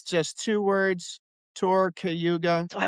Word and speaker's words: Cayuga: the website so they can hear how it's pronounced properly? Sure. It's just two words, tour cayuga.